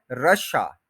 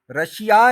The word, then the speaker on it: Russia: को प्रोनाउंस करती है यह है रशा रशा रश आ रशा रशिया नहीं है यह आप मतलब हर कोई चूंकि रशिया बोल देता है इसलिए हमें लगता है कि यही ठीक है हमने डिसाइड नहीं